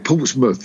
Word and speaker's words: Portsmouth: Now, yeah, Portsmouth. You don't have to say mouth. It's mouth. Okay. Yeah, right. I know it's spelt mouth.